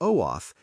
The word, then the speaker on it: OAuth: Pronounce OAuth for OAF, and OIDC for OIDC.